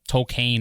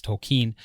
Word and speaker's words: Tolkien: movie when the teacher pronounces his name cocaine or something like that and and Ronald corrects him it's tokine but then the rest